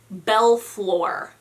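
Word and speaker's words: Balfour: for these words like belfor b-a-l-f-o-u-r is supposed to be pronounced bell floor bell floor where's that l coming from like and i'm not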